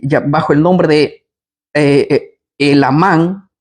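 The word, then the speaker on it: Helamán: el nombre de eh el amán con acento en la a empieza a contar acerca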